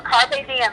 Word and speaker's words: Carpe Diem: White released her long-awaited album, Carpe Diem. Am I pronouncing that correctly? Yes, Carpe Diem, it means seize the day.